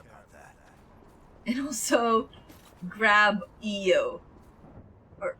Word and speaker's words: Io: And also grab Io. Or Io. How you pronounce her name actually depends if you're playing with the Japanese voice acting, or if you're playing on the English voice acting.